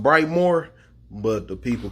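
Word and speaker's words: Brightmoor: get it this neighborhood is bright mode it's pronounced bright more but the people call it bright mode that street is called finkel aka 401 aka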